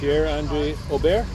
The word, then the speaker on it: Pierre-Andre Aubert: Le Presage restaurant with Pierre-Andre Aubert. Yeah. So it's how it's pronounced?